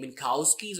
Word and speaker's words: Minkowski: you can spell it I usually prefer saying milkowskis where the K is almost silent minkasky nasty you know